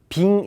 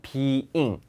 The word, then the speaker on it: being: 발음은 빙 이렇게 있는게 아니라 being잉 이음절이에요.